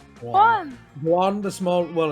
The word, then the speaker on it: Juan: You're talking to John. Juan! Juan, the small. Well, it's not pronounced Juan.